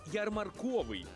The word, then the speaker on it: ярмарковий: не було звично казати та правильно все ж буде ярмарковий уявляєте собі а ярмарковий ярмарковий напевно ярмарковий ярмарковий ярмарковий зафіксували у слові ярмарковий наголос на звук о ярмарковий рухаємось до наступного